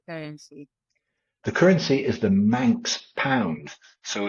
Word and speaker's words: Manx: The currency is the Manx pound, so it's pegged, it's kept on a